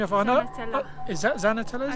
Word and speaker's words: Xanenetla: i know is that zana tell us because i know in spanish x's are pronounced and sort of zeds but it always throws me off yeah there we go